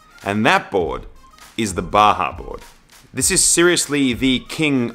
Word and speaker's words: Bajaboard: So we're Bajaboard, the B-A-J-A, pronounced as the H for the Mexican Baja Peninsula.